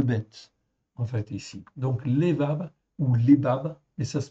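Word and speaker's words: לבב: lébab, en fait ici, ou lévav, on prononce lévav, ou lève, eh bien, sont toujours traduits, en fait ici, par simplement le mot cœur.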